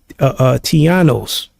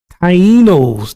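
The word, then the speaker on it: Taíno: Did I pronounce that right? Tianos. Y'all know what I'm talking about. Tiano. Let me see if I pronounce that right. Because I don't need to look that up. Tianos. Let me see. I don't even know how to spell it. Tianos. I've been saying it all week. Nah, I can't even say it right. Tianos. Native. Tainos. There you go. That's it. Tainos. There you go. Tainos.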